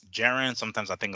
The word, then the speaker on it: Jaron: It was main evented by the IBF welterweight champion Jaron Ennis. Hopefully, I pronounced his name right because sometimes it's Jaron, sometimes I think it's Jerome, sometimes it's Jaron,